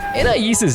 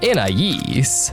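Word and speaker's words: Anais: INAIS'S NAME HAS TWO different pronunciations in the show. It's usually pronounced according to the name's French origin, Inais, but it's occasionally pronounced according to the English phonics, and Inais, instead, usually by Darwin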